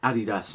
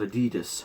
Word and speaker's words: Adidas: t-shirt which is um very good and it's pronounced adidas not adidas americans that's the correct terminology and me my